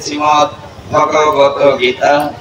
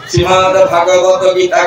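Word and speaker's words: শ্রীমদ্ভগবদ্গীতা: অষ্ট সমাদৃত গ্রন্থ হচ্ছে শ্রীমদ ভগবত গীতা যারা কখনো কখনো উচ্চারণ করে শ্রীমদভাগ ভগবত গীতা 100 ভাগ ভুল হয়ে যায় শ্রীমদ ভাগবত গীতা কখনো হয় না শ্রীমদ ভগবত গীতা শ্রী ম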